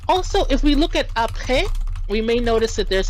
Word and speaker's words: après: Whenever we see an E with that accent grave, it's going to usually be pronounced more like eh.